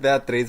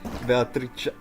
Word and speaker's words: Beatrice: Phoenix is saying that her name is not pronounced Beatriz, but pronounced how they typed it in chat right now.